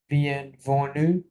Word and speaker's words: bienvenue: তো nas, হ্যাঁ, তাহলে এসটা তো সাইলেন্ট থাকবে লাস্টেটা। এনইউ কি হয়? nu, sorry? nu, নু, হ্যাঁ, তাহলে কি হবে একবার? bienvenue, বিয়েনভেনু, right.